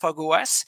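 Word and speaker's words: Fog05: It's written 05, what is pronounced FogOS.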